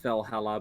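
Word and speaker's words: VA-11 Hall-A: A stream tomorrow, where I will be downloading, well, the game's pronounced Valhalla, but it's with, like, lots of numbers and stuff.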